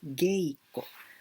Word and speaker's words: geiko: Here I pronounce geiko because it's easier.